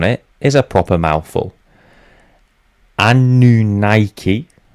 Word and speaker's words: Anunnaki: Anunnaki. That's how apparently we want to pronounce that. I'm going to pronounce it the Anunnaki.